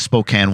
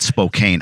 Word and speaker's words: Spokane: uh he's out of Spokane Washington don't call it Spokane I don't know who the hell he gave me this warning before don't call it Spokane I'm like who calls it Spokane but we'll explore that